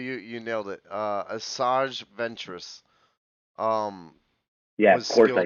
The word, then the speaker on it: Asajj Ventress: yeah this one i don't know how to pronounce okay uh yeah actually you you nailed it uh asajj ventress um yeah of course i nailed it that's